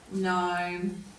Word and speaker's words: gnome: And then we're going to change colours and we'll go to the silent G in these ones. So we've got sign, design, assign, nat, gnome and gnarly.